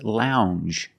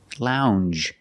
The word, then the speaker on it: lounge: he's very stingy and this word is lounge Lounge it makes the regular n plus the J Lounge it follows the same pattern as orange and change um it's a regular n plus the soft J sound Lounge a lounge is